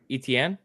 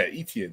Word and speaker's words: Etienne: Etienne. Yeah, Etienne.